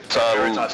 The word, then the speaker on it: Veritas: was about to ask you, how do you pronounce that? Veritas.